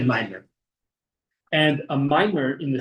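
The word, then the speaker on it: מאמר: A ma'amar, but with the Chabad Yiddish style pronunciation, we say a mimer.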